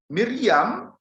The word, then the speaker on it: Miriam: Saudara-saudari, nama Maria itu ejaan Latin, sedangkan ejaan Ibraninya itu berbunyi Miriam. Ini Miriam, bunyi asli dalam Ibrani. Miriam, bunyi Aramnya Maryam.